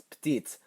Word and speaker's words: petite: When it agrees with a feminine noun, it's petite. The T is pronounced, and you can tell by the silent E that got added.